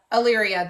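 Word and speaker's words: Allyria: allia aaria Dane and Alyria ayria that's how you pronounce it and now I'm leaning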